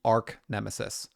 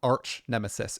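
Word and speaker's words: Archnemesis: have now grown into Arc Nemesis or arch nemesis if you prefer that pronunciation it's just more advanced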